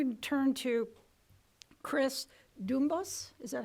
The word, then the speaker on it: Doornbos: Now we're going to turn to Chris Doornbos. Is that how you pronounce it?